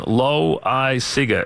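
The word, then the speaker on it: Loáisiga: We were given Loweyeseega is how they wanted it pronounced.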